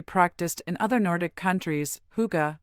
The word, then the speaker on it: hygge: Originating in Denmark and widely practiced in other Nordic countries, hygge, pronounced hygge, is about cherishing the simple pleasures of